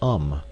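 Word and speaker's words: homme: learned from darno that it was pronounced um and in the same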